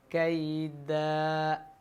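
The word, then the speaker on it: كَيْدًا: കൈദ എന്നിടത്ത് അവസാനം കൂടുതലായിട്ട് നീട്ടാൻ പാടില്ല. കൈദ അത് പാടില്ല. കൈദ മതി. 2 ഹർക്കത്തിൻ്റെ അല്ലെങ്കിൽ ഒരു അലിഫിൻ്റെ അളവ്.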